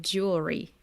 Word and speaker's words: jewel: with the more simple Jewel which is J and then like a o o o sound like a double O